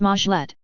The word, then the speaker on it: meglet: organization of the do the meglet pronounced mlet like magical tablet was a replica of